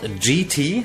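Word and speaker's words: Geetee: It's called GT, spelled like G-E-E-T-E-E.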